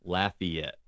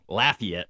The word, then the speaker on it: Lafayette: And it's not Lafayette. Well, it's it is to me. Well, Lafayette. There you go. Lafayette is wrong. It's laugh like you're laughing like Lafayette.